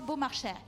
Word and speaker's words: Beaumarchais: En tout cas, Maestra Capella, je vois que vous prononcez exactement comme il se doit Beaumarchais. Oui, Beaumarchais, non, parce que c'est formidable, Beaumarchais.